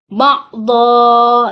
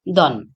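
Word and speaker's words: بَعْضًا: Lanjut yang kelima, ba'dha. Nah, ini merupakan mad iwad yang diwakafkan. Jadi dibacanya dha, jangan dibaca don. Jadi ba'dukum ba'dha.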